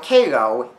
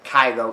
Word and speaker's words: Cairo: mentally ill patients now Caro is actually named after Kyo Egypt despite it being pronounced differently but they're spell the same so I guess that's